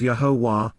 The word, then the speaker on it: Yahowah: Indeed, Yahowah, Yahowah, the proper pronunciation of Yahowah, our Eloah, God has directed in his Torah,